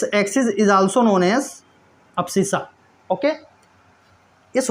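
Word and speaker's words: abscissa: इसको बोलते हैं अप्सिसा। इसको बोलते हैं अप्सिसा। ठीक है? ठीक है?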